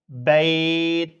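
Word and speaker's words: بيت: তাহলে এটা বাইত এভাবে উচ্চারণ হবে।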